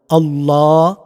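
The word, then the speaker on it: الله: আল্লাহ আল্লাহ এই আল্লাহ শব্দটিকে মুখ ভর্তি করে উচ্চারণ করবেন। এটা পুর করবেন। আল্লাহ শব্দ যখন জবর ওয়ালা পেশওয়ালা হফ হরফ দিয়ে বলব তখন অলওয়েজ এটা পুর হবে। মুখবর্তী করে উচ্চারণ এভাবে করবেন।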